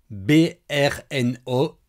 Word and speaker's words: Brno: Alors, petite précision hein, Brno, ça s'écrit B RN O, sans voyelle apparente mais ça se prononce en fait euh Brno hein, plutôt même pas Brno mais Brno.